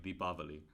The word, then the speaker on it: Deepavali: like North Indian pronunciation whereas in the South it's pronounced like deepavali which is but it's